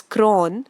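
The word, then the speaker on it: chron: chrome which means color CH r o n is pronounced as cron which means time so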